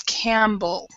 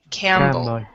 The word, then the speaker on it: Campbell: common English name but we do not usually when when we have a p or B those that type of thing together you do not pronounce both of the sounds and so it's camble so this P right here is silent Campell Campbell yeah and